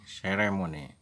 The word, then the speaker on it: ceremony: Berikutnya lagi ceremony, bunyi S, se. Upacara itu bunyinya ceremony. Oke, itulah cara bacanya ceremony.